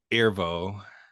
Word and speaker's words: Erivo: I got lost in both performances, and like I think Cynthia Erivo, I believe that's how you pronounce her last name.